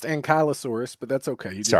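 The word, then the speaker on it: Ankylosaurus: My my favorite dinosaur as a kid was the Ankliosaurus, which kind of looks like Armadillo. No Are you serious? I swear to God, it's pronounced Ankyosaurus, but that's okay.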